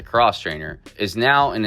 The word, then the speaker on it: X-Trainer: The X-Trainer, Beta pronounces a cross traininer, is now in its